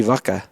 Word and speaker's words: vaca: Then it would be vaca. Say it with the B.